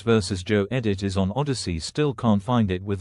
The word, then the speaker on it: Odysee: It's not spelled like your typical Odyssey, you know. It's a different spelling of Odyssey.